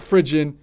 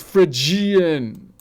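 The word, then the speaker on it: Phrygian: It's not frigen. It's frigian. Frien. Okay. Unf for this. Frien. Frien. You say it like a barbarian. This is ancient Greek. You animal.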